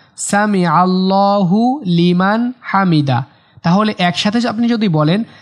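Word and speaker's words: الحمد: লাকাল হামদ রব্বানা লাকাল হামদ রব্বানা লাকাল হামদ হামদ বলা যাবে না হামদ এরকম বলে বলা যাবে না হামদ লাস্টে দাল একটু কলকলা করতে হবে হামদ এরকম হবে হামদ হামদ রব্বানা লাকাল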